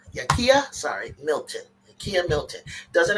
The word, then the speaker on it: Yakia: And then today we got and I don't know how to pronounce it. Yakima Yakia, sorry.